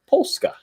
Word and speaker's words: Polska: In Poland, or in Polish, Poland is pronounced Polska. Polska. Not Polska.